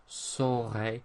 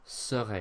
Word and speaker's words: saurai: One thing I will say about this is make sure you pronounce it right. It's saurai, not serai, because of course that's the future of être. So saur, not ser.